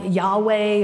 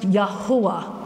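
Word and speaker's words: יהוה: call it Yahweh or Jehovah. No such thing in Hebrew. Okay, Yahweh is German. Jehovah doesn't even have any Hebrew relevance. There's no J in the Hebrew language. So his name is pronounced Yahuwah.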